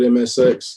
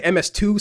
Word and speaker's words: MSX: So it's pronounced, we just call it MSX.